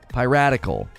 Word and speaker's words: piratical: Piratical. It sounds like I'm saying radical. Piratical. Like somebody who really likes pie.